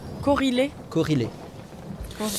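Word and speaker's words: Korhile: Il s'appelle Corilé. Corrélé. Corilé. Comment ça s'écrit? K-O-R-H-I-L-E. Corilé.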